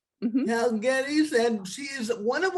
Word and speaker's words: Guedes: So I pronounce Gettys and she is one